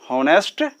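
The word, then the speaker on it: honest: जैसे उसके बाद दूसरा एग्जाम्पल देखते हैं, जिसका प्रथम अक्षर H हो यानी H साइलेंट हो, ठीक है, उसके आगे भी एन का प्रयोग करते हैं। जैसे एन हॉनेस्ट, एन हावर इत्यादि।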